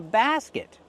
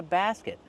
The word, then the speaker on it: basket: You can pick strawberries with a basket. This is a basket. But I don't have a basket. I have a box. How do we pronounce basket? Basket. Use the open a sound like black cat.